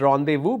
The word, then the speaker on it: rendezvous: is Rhon they move this is pronounced as rendezvous because it's a French word this word is pronounced